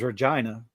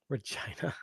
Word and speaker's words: Regina: Oh, it's not how we pronounce it. Is it? Oh wait. Oh, the city. The city's name is Regina. Regina.